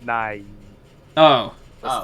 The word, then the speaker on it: Nighy: The guy- so his last name is Nighy. It's pronounced Nye.